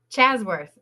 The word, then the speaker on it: Ashworth: Chasworth. Chasworth. And I got to fix it. Oh, here we I'm go. going to start Let's again. just start over here. Here we go. Yeah, okay. Chasworth.